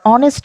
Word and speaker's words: honest: Here the spellings have h at the start, but the h is silent. We don't say hour or honest man. We say hour or honest man. Thus the words begin with vowel sound.